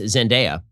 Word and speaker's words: Zendaya: holland and uh i've been informed that it's pronounced zendaya and um honestly the only thing about this